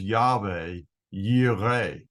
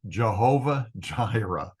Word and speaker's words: Yahweh Yireh: You've probably heard the term Jehovah Jireh. Jehovah means absolutely nothing, and that's what happens when you try to pronounce the sacred name of Yahweh with the substitute vowels that are given here.